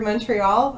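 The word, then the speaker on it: Montréal: By the way, where Florida, I love that you actually put the accent on the E in the word Montreal.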